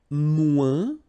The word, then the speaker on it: moins: And then, moins, same thing here. Remember, we don't pronounce the final S. Then you put the adjective que, than, and the rest of the sentence. Okay? Elle est moins rapide que moi.